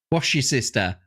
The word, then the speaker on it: Worcestershire: Wash your sister.